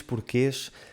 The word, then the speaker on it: porquê: O primeiro é a palavra porquê, com o som E no final, que nós escrevemos com um acento circunflexo.